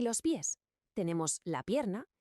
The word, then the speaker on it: pie: Pie en español suena igual que pie en inglés, la tarta.